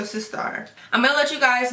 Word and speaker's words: Sistar: It's Sistar, but with an A. So Sistar.